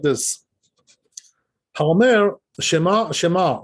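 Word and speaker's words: שמע: is that they say Shema, Shema. This is no good. Why? Because they're not pronouncing the which is under the shin.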